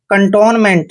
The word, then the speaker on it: cantonment: और देखिए एम को हमने मैं पढ़ना है, ई को ए की मात्रा पढ़ते हैं। एन का उच्चारण आधा न और टी को टे पढ़ते हैं। कंटोनमेंट।